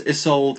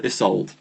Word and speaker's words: Isolde: Wonderful Name to give to someone um I pronounce isold isold um but it can be done this is